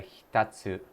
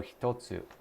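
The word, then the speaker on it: 一つ: Oh, that's a hitatsu. 1 つ。 Oh, hitotsu. Hitatsu means something else.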